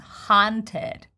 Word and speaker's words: haunted: Oh my God, a lot of you would just want to say haunted or haunted, but it's once again big ah sound, haunted.